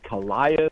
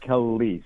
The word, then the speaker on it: Callis: Well, I wondered if it was Callias or anyway. So it's Callis.